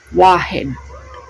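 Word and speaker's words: واحد: saka sa Tagalog, ang sa Arabic doon is wahed. Okay? Yon. Ang number 2 or dalawa is ethnin. Yan ang pagpo-pronounce doon.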